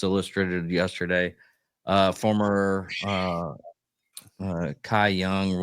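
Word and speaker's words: Cy Young: yesterday uh former uh Kai young winner pronounced sayong sayong uh winner Tre uh Trevor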